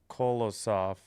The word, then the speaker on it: Kolosov: Urson is backed up by Kolosov.